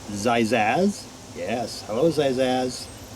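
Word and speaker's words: Xaxiaz: x a x i a z but it's pronounced zizazz yes hello size are you today good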